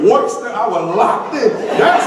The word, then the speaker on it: Worcester: Everything superintendent said, but when he said Worcester, I was locked in.